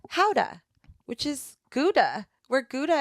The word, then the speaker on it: Gouda: actually pronounced not like Gouda, like how we say it? How do you say it? Howda.